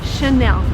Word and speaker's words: Chanel: just behind me and the right way to pronounce it is again in French because it's from friends so the correct way to say this word is Chanel and by the way